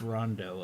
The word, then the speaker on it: Rondeau: coast was able to pronounce Rondo as either wrong to you nobody could seem to get Rondo's and even with that most of the checks that was that we received was our H onvo because they thought of